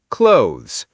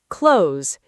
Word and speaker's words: clothes: Clothes. Two syllables. One syllable. Clothes. It rhymes with goes, toes, shows.